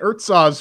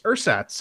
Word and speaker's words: Ursats: I've been calling it Urtsaz for like a week and a half, but apparently it's Ursats, and it's developed by Paris Stalker.